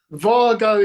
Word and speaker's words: Wago: if there you go is it Vargo that ought to be called Vargo is is the German way to pronounce if they're said to